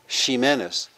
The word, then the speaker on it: Ximenez: So for example, Jimenez, the surname, at that time was pronounced in Spanish Ximenez, Ximenez, and spelled with an X, Ximenez.